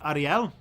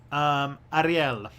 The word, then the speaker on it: Ariel: So it's probably Ariel. That would be the closest that I would get with if it's Spanish. Ariel.